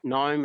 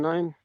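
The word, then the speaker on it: gnome: called No me Sports which is spelled g g n o me so gome as in Garden gome but uh play on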